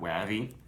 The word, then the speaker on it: Wavvy: I'm assuming it's pronounced Wavy, not Wavvy, with their cool cans.